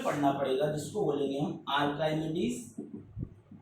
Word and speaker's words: आर्किमिडीज: पड़ेगा, जिसको बोलेंगे हम आर्काइमेडीज। आर्किमिडीज बोलते हैं, लेकिन स्पेलिंग याद करने के लिए आप बोल सकते हो आर्काइमेडीज प्रिंसिपल।